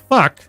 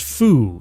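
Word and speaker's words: Phuc: We had a kid at school named Fuck. That's how I'd say it. Pronounced Foo.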